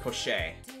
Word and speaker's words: pochette: I think that's pronounced pochette. I It might be French. I don't know.